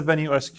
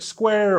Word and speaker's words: Venu SQ: It's pronounced the Venue SQ according to Garmin. I asked if it was like square or square or squirle or who knows what, but it is actually SQ.